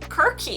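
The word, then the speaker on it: Circe: pronounce and i guess in ancient greek we would have pronounced it quirky but they could no one could decide whether it's cersei cersei and i like cersei so we're gonna stick with that i like it a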